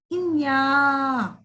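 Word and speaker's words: ञ: बच्चों, सही तरीके से उच्चारण कीजिएगा। इन्या। बोलिए, इन्या। ठीक है बच्चों, इन्या।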